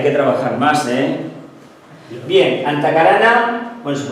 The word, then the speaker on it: Antahkarana: Bien, Antakarana, bueno, se pronuncia Antakarana, como brazo.